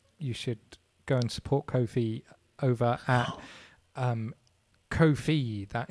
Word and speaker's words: Kofi: should go and support Kofi over at um Kofi that is k- fi it's pronounced coffee like is in bias